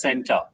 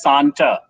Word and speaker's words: CENTA: let me tell you santa is not pronounced in my school as center it is pronounced as santa you see santa claus so you bring